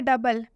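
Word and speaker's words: double: एक और एग्जांपल देखिए, डबल, ओ यू के साथ आया हुआ है। अभी बताया हमने कि ई या फिर यू के साथ अगर ओ आए तो ओ साइलेंट हो जाता है, तो ओ यहाँ पर यू के साथ आया हुआ है इसलिए यहाँ पर भी ओ साइलेंट हो जाएगा।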